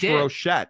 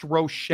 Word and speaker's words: Rocher: You know, uh Luis Enrique, uh Jake, did you tell Monty that uh Rocher was pronounced Rochett? I did. It's pronounced Rochett.